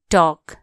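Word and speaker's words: talk: H watch कुरा गर्नो टॉक टी ए एल के टॉक टॉक एल यहां के हु्नछ साइलेंट टॉल कोना टॉक टी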